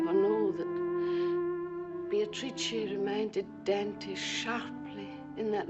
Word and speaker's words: Beatrice: It is pronounced Beatatrice in Italian which makes it very beautiful. Meeting Beatrice on the Ponte Veio.